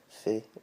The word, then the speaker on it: fae: Also from is the same. Where are you fae? If you're asking someone where they're from, it's fae, F-I.